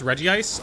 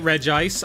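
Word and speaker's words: Regice: How do you pronounce Reggie ice? I pronounce it Reggie Ice. I know that there's only one eye. However, Reggi Rock, Reggie Steel, Reggie Ice. I'm not calling it Reg Ice.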